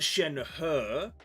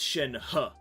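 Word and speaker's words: Shenhe: how crazy that is I believe it's Shen her but it's not Shen her it's Shen huh so it's kind of like a Shen h-u-h it's like a ha Shen ha it's a bit like that that's how I would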